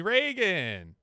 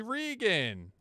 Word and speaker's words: Regan: bug back with Reagan the the the Lord is that was that good I'll take it you pronounce my name wrong but Regan hey there we go